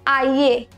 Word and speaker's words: aller: Now here we don't say aller. Double L is not pronounced as ye but l. So we say aller.